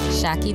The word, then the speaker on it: Shaki: Here's your host, Chief Sideline Hacker, Target enthusiast, and French fry lover, Shaki. What's up, Sideline Hackers? Shaki here, the one that rhymes with hockey and is short for Shakira, like the singer.